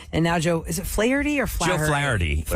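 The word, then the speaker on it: Flaherty: away in December and now Joe is it flarey or FL Jo FL flowy is how you say FL uh even though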